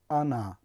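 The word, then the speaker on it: она: همان گونه که میبینیم وقتی تلفظ میکنیم ما نمیگوییم که آنه، ما میگوییم آنه. یعنی زده در بالای حرف ا در هجای دوم افتاده است.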